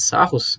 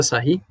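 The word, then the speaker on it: Sarrus: Aqui nós temos pela regra de Serry aqui, de Sarros, mas se pronuncia Serry, nós simplesmente fazemos o quê?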